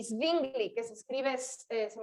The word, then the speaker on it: Zwingli: Lutero, Calvino y Zwingli, que se escribe, se me olvidó su primer nombre, pero es Z-W-I-N-G-L-I.